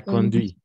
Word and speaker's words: conduis: je la conduite exact je la conduis voilà le S à la fin on ne prononce jamais conduit exact lettre H exact